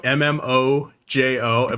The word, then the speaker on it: MMOJO: M OJ O. By the way, it's just pronounced Mojo, but you know what?